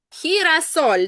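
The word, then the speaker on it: girasol: Перше, буква х читається, х читається як х перед і. Друге, м на останній склад падає наголос. І третє, ель завжди м'який.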